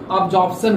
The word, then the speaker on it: absorption: तो अधिशोषण को एडजॉर्प्शन बोलेंगे और जबकि अवशोषण को एब्जॉर्प्शन बोलेंगे। इस दोनों में बहुत कम अंतर होता है, दोनों के दोनों आप देखिएगा तो मिलता जुलता वर्ड है।